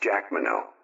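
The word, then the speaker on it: Jacqueminot: does not include kill Ary and Sunburst General Jac Mano that's j a c q e m i n o t pronounced Jack Mano Paul nro Madam super golden emblem or who's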